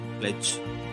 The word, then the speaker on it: pledge: The D sound of D is usually not pronounced when the letter D is followed by GE. There are so many words like pledge, dodge, grudge, judge, etc., where we do not pronounce D.